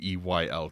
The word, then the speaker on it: Weyl: Carl Jules Whale, Wheel. I don't know how to say it. It's Weyl.